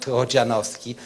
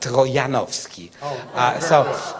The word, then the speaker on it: Trojanowski: So the proper Polish pronunciation is not Trojanowski, but Trojanowski.